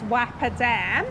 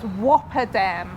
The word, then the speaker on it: Wappa Dam: People have told us it's not pronounced Wappa Dam, it's pronounced Whopper Dam.